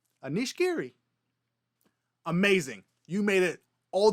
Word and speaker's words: Anish: I have heard his first name pronounced Anish, like a dish or a fish.